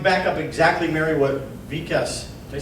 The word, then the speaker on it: Vikas: I go along, back up exactly, Mary, what Vikas, did I say it right? Vikas.